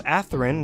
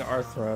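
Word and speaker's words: Athrun: but not by much i learned to pronounce atherin which was a positive i kept saying arthro in my bad atheron but i wanted to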